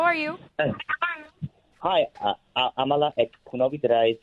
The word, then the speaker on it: Amala Ekpunobi: Hi, Amala Ekpunobi.